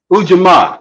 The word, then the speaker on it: ujima: principle again Nia is that how do you pronounce it Dr Green no the fourth one is ujima ujima ujima ujama and ujima is cooperative economic economics